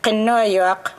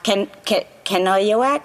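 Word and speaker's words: Kenojuak: have only to mention kenoyuk or as non-inuate would say her name can canoevac if I say her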